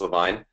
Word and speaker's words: Levine: hey everyone um so Peter you pronounced my name correctly it's it's Levine um I'm very excited